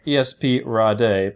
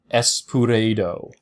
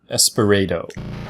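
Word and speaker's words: ESP Ra.De.: Now, this game is spelled ESP RA period DE, which to me sounds like ESP Rade, but apparently it's officially pronounced Espurado. Espurado.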